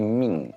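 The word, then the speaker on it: مِن: Maaf, ketika nun pada kata min dibacanya itu jadi ming karena ada hukum ikfa dan ada tasydid di huruf ro.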